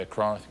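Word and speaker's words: Accra: be the pronunciation please once again it's Acra a lot of people say Acra was fair enough capital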